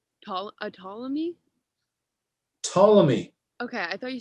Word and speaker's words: Ptolemy: what was his name ptolemy a ptolemy ptolemy okay i thought you said tony at first how do you spell ptolemy anybody p-t-o-l-e-m-y ptolemy ptolemy's is read ptolemy ptolemy like the pterodactyl really pterodactyl spelled with